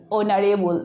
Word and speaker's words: honorable: This is our, and after that you see honorable. Okay, here H is hidden. Okay, we are pronouncing like our, like honorable. That means it is like starting from the letter O, and here sound, here you see the first letter is consonant.